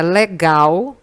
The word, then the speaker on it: legal: Na palavra legal, a sílaba que a gente pronuncia com maior intensidade, com mais força, é a última sílaba, é o gal.